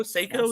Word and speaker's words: Seiko: Seiko, is that how you say it?